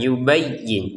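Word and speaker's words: يُبَيِّن: Nah, perhatikan ya-nya ditekan, yubayyin. Jangan sekedar yubayyi kan kurang yang seperti itu ya.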